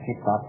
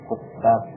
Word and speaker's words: kuttab: Al-kuttab, jangan salah baca, itu bukan bacanya kitab, tapi kuttab, jamak dari katibun.